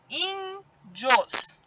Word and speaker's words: índios: Outra palavra, índios. Olha só, índios. O in sai com mais força.